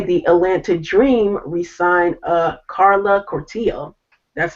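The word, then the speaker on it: Cortijo: So today, the Atlanta Dream re-signed Carla Cortillo. That's how to pronounce her last name.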